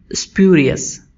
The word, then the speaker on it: spurious: तो आइए सबसे पहले हम सीखते हैं इस वर्ड को प्रोनाउंस कैसे करना है। तो हम बोलेंगे स्प्यूरियस।